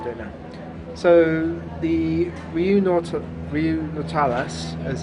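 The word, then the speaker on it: Riu Nautilus: So the Riu Nautilius, as it's pronounced, in Torremolinos, is a 4-star hotel.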